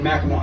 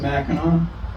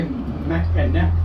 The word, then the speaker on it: Mackinac: And but everything else is, even though it has a C, it's always pronounced as if it was a W. The Straits of Mackinac, the Mackinac Bridge, and Mackinac Island. So if you say Mackinac, you automatically identify yourself as a tourist.